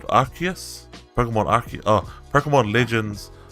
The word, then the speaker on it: Arceus: He sounds better like if you pronounce it Arceus. Is that how you pronounce it? No, you're right. It's Arceus. Arceus. That's how they pronounce it from the event, but Arceus sounds way better.